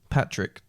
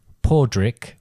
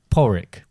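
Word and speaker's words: Padraig: Patrick. Well, you might think that working on the basis that it changes it to something similar, but it's pronounced Podrick or Porrick.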